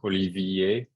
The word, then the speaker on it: Olivier: same as a dialect holy VA uh that's the way you pronounce my first name uh because people couldn't